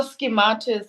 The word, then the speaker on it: SciMathUS: So schematus, it's spelled as SCIMATHUS.